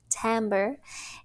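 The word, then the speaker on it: timbre: unique qualities of sound called tamber tamber pronounced tamber is made up of more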